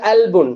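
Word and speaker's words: قلب: அவங்க எப்படி ப்ரொனவுன்ஸ் பண்ணுவாங்க? அல்புன்.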